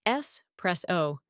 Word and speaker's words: espresso: For espresso, it's S press O, and cappuccino is cap-pa-chi-no.